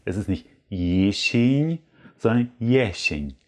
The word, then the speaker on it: jesień: Also mit schönen, klaren S, keine E's. Es ist nicht Jesień, sondern Jesień.